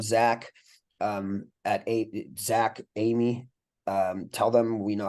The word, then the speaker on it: Emigh: is kind of tricky it's pronounced Amy like the girl's name but it's spelled e m g h and yeah if